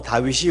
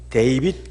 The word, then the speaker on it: 다윗: 그러니까 예를 들자면 다윗 같은 경우도 다윗이 원어 발음에 맞지요. 우리 발음이 원어 발음에 맞게 되어 있습니다. 영어 발음에서는 데이빗 그렇게 하고 있죠.